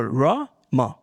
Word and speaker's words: Ram: And Ram is very simple, Ra-ma, 2 syllables.